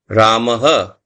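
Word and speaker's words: रामः: There is one word Ramaha, which is the visarg. So if it is Ram, Rama, Ramaha, if it's with the visarg, with the visarg.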